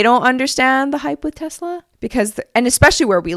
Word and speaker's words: Tesla: You say it with like a Z.